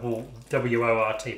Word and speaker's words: wort: end of this is called the wut i believe spelt w-o-r-t i think it's wort it's pronounced there's gonna be brewers